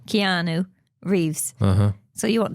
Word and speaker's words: Keanu: film okay H what's his name Neil is keoni Reeves I can ever say his name how Keanu Reeves uhhuh so you want to speak a